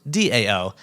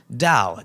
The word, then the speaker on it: Tao: way in the interview i learned that tao is pronounced d-a-o dao dao da jing although